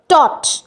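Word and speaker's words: taut: Next হচ্ছে টট, টটও হচ্ছে কিন্তু এক, GH এর কোনো প্রোনাউন্সিয়েশন নেই।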